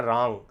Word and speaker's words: रां: अक्सर जब आप रांग बोलते हैं तो आप ओठ बंद कर लेते हैं, राम बोल देते हैं, रांग ऐसा कर देते हैं, लेकिन ऐसा नहीं है। रा का उच्चारण करते हुए ऊपर बिंदी है तो आपको बोलना है रांग, यानी ऊपर बिंदी, आपका ओठ खुला रहेगा, मुंह खुला रहेगा, आवाज़ आपके नाक से निकलेगी।